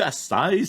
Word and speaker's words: açaï: Je me dis, c'est-tu açaï? Comment est-ce qu'on prononce ça? Fait que le i tréma, eh bien, on prononce le i séparément, c'est ça?